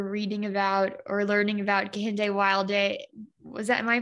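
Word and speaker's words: Kehinde Wiley: like you were reading about or learning about kente wilde was that am i pronouncing their name right yes yes andre wiley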